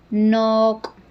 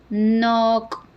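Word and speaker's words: nok': Y en lengua maya ropa se dice nok, nok, nok. El apóstrofe lo lleva al final, en la K.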